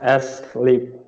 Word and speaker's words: asleep: No, the a here, the a. You don't say it as you should not pronounce it very long. So you should just say us, asleep, not Asleep.